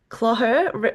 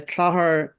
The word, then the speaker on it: Clogher: genealogy for a range of publications including the Clogher Record and the Spark. Is that how you pronounce that word? Yeah, so uh Clogher is a small town in County Tyrone, but